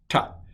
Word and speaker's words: tet: And Hebrew has a ta sound. I'm talking to you. I will not work that hard when I pronounce Hebrew. I'm sorry to say for you, but it's transliterated as a T with a dot under it, and it is ta.